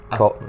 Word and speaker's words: Aspmo: Today I've got a good friend, Cato Aspmo. Is that how you say it? Yeah, Aspmo.